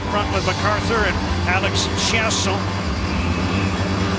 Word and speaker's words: Chiasson: And for the Ottawa Senators, Kyle Turris up front with MacArthur and Alex Chiasson. Back to the French pronunciation of his name after being anglicized in Dallas, no longer Alex Chiasson.